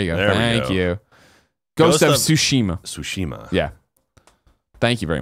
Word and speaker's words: Tsushima: of ghosts of what Kevin how do you pronounce it scheme throw up there you go thank you go Tsushima Tsushima yeah thank you very much trailers really